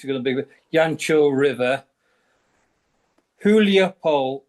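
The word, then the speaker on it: Гуляйполе: Yeah, when you're talking about Zaporizhia, the most popular at the moment, which is going to be Yancho River, Huliapol, which is pronounced Guliapol.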